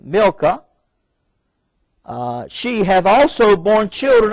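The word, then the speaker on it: Milcah: and it came to pass after these things that it was told Abraham saying behold milka is pronounced m-i-l slash or Dash k-a-h-c there is a k sounding milka she have also born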